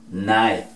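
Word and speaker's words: knife: con esta otra laca antes de la n en palabras iniciales tampoco suena hay que colocarla pero no suena ahora now rodilla ni cuchillo night ok vieron qué sencillo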